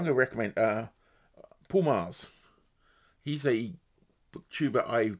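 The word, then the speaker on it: Magrs: uh so I'm going to recommend uh Paul Mars he's a book tuber I discovered recently he's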